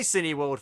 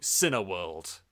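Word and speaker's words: Cineworld: an actor saying hi cine World fans although the Americans they often go C World which is not how you say it by the way you're American tell all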